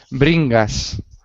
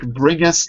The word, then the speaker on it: Bringas: chat and Mr bringas is that how you say your last name or bringas how do you say your last name bring us bring us like bring us the money yeah okay tell me